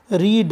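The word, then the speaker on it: read: रीड, रीड means पढ़ना, second form third form इनका pronunciation थोड़ा सा डिफरेंस होता है, रेड, रेड।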